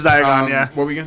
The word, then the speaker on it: Diagon: How do you pronounce it? Diagon? Diagonelli. No, that's how he says it in the thing. Yeah, it's Diagon.